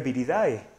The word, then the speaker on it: Viridae: una familia se escribe Viridae. Sin embargo, se va a leer, acuérdense que es una palabra grecolatina, se dice Virida.